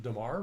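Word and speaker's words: dammar: because Dammer varnish, and I pronounce it Dammer, but a lot of people pronounce it Damar, but Dammer varnishes are still very popular.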